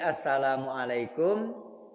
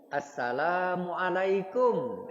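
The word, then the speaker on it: السلام عليكم: Jadi assalamualaikum lanya yang panjang. Assalamualaikum. Ah kumnya berhenti.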